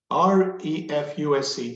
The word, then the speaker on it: refuse: In this word, R-E-F-U-S-E, which syllable do we stress? First or the second, one or two? So we can say refuse. Refuse in this context. Obviously, your English is very good. But the funny aspect of this is to pronounce it on the second syllable. Refuse. The consonant also changes. We have refuse, S, non-voiced, and the voiced refuse. Second syllable with a voiced consonant.